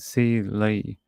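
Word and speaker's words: Celie: it's that's her name c e l i e but you pronounce it C Lee apparently and that's a photo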